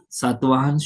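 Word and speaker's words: Satavahana: Satvahan should be pronounced as a Satvahan.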